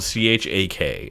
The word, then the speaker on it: Chak: So it's spelled C-H-A-K, and it does tell you here it rhymes with the word Jack, so that's how I know how to say Chak.